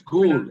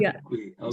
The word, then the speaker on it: Gul: Yeah, you can call me Gul, the first part of the name. That's it's Gul. It's not Gul. G-U-L.